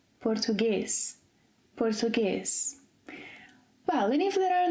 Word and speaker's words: português: For example 'café' - open sound - É - 'café' 'português' – closed – 'português' Well, and if there are no written accents?